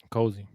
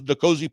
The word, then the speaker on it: N'Kosi: Cozy.